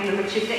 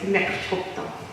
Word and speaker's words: Mechoopda: Mechoopda Indian tribe. Now I just want to let you know, Mechoopda is a pronunciation that was changed. The original way of saying the name is Mechoopda.